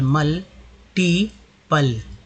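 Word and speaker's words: multiple: अब MUL मूल भी लोग पढ़ते हैं, लेकिन यहाँ पर यू का उच्चारण अ के रूप में हुआ है, तो मल हो गया, MUL मल। टी पल है ना, मल्टीपल।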